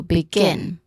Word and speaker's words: begin: But the stressed syllable of this word is gin, which is the second syllable. So begin, okay, to begin with.